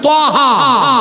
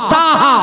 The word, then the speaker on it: ত্বহা: একটি সূরা সূরাটির নাম সূরাতুল ত্বহা বা তাহা বানান বাংলায় তয়বা আকার হলে ত হয় আর তখন হায় তা হয় উচ্চারণ দুটোই ঠিক প্রিয় ভাইসাব এই সূরাটির